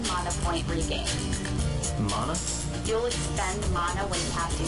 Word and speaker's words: mana: Mana field. This is the mana field. Here, each gem you clear will yield a sparkling 1 mana point regain. Mana?